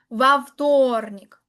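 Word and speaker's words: во вторник: En este caso es la vo, pero la pronuncia como una va tornic únicamente en el día martes nada más.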